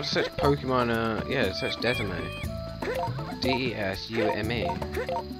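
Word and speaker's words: DeSmuME: Desume. Oh, that's Desume. It's not Desimate.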